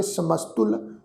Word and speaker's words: समस्तुल: समस्तुल तत्ते दे पैर विच औंकड़ की मात्रा वा, इहदा पाठ उच्चारण करांगे समस्तुल निवासी।